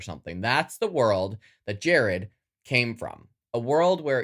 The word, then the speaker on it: Jared: That was me learning from my mistakes, and I pronounced Jared correctly, even though it's spelled a little funky.